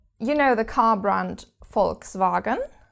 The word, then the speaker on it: Volkswagen: know the car brand Volkswagen Volkswagen you probably will have pronounced it wrong all your life but you have to pronounce this V like an F and actually quite curiously